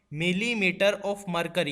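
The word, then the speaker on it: mmHg: ये दोस्तों इसको कैसे प्रोनाउंस करते हैं आप ध्यान से सुने, इसको एमएमएचजी को प्रोनाउंस करते हैं, बोलते हैं मिलीमीटर ऑफ मरकरी।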